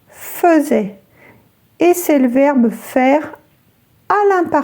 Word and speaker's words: faisait: Ngoài ra, hãy cẩn thận với "faisait". Nó được viết với "ai" mặc dù phát âm giống như "fezè".